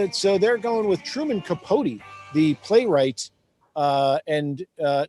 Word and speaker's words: Capote: i don't think but it that name is pronounced capote i'm gonna cody yeah okay put a second